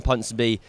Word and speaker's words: Ponsonby: It's the final word daily with me Cameron punon b and V yeah man that's how actually that's how you pronounce it it's like London so if you